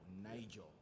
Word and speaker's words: Naijo: So for my artist name, it's spelled Naijo. N-A-I-J-O, Nigel.